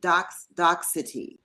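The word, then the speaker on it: Docsity: And you also founded DoxCity.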